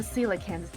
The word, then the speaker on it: coelacanth: I switched the coelacanth to manual and drive as fast as possible down the Shuto Expressway. Momo, your turn. How do you pronounce that again? Coelacanth.